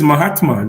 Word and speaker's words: Mahatma: to pronounce your name no it's Mahatma just like Mahatma Gandhi okay my heart